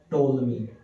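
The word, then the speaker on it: Ptolemy: एक बाबा हो गए टोल मी एक बाबा होए थे टोल मी क्या हुए थे टोल ये पी साइलेंट है भा ठीक है ना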